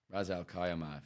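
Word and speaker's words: Ras al-Khaimah: what it's called it's in Rozelle Khayyam ah Ra's al Kaiama that's how you pronounce it I don't know yeah check that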